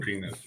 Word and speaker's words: Penix: anything, so- It's pronounced penis. Penis 6.